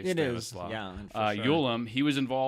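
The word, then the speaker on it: Stanisław: And then finally, there was a cat by the name of Stanislaw Ulam, and that is how you say Stanislaw.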